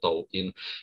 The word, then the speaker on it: Douyin: Kalau di China namanya Douyin gitu ya, dibacanya itu Douyin.